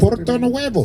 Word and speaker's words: Puerto Nuevo: Puerto Nuevo.